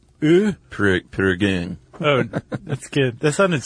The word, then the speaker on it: Prägung: Yeah, like an A with an umlaut, sort of a ear. Prägung.